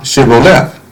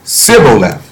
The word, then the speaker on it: Shibboleth: And if he said, Nay, then they said unto him, Say now Shibboleth. And he said, Sibboleth, for he could not frame to pronounce it right.